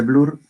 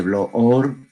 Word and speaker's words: Bloor: Hay otra parte dentro de la clasificación de Blur o de Bloor, si se escribe como B-L-O-O-R, los lípidos neutros, que no tienen carga eléctrica, y están los acilgliceroles y el colesterol.